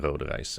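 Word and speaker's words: Rodenrijs: This event takes place in Berkel and Roderijs, and for those who don't speak Dutch and believe this is not a real word, the I and the J together is pronounced as I.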